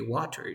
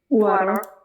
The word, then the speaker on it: water: art so for example we have the word water but if you are a native speaker you don't say water you say water water because you have a tea between two vowel sounds you say water or